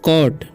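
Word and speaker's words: caught: ठीक है, और लिखा हुआ है द शेफर्ड कॉट, इसे पढ़ते हैं हम कॉट। ठीक है, यानी कि इसे काउट नहीं पढ़ना है, ठीक है। जीएस जो है साइलेंट है, ठीक है।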